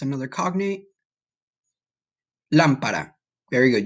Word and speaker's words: lámpara: Lámpara. Very good. You see the word lamp with an accent over the A, and the ending is a little different.